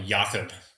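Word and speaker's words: Jakob: My brother's called me Yakob because it's the German pronunciation of Jacob.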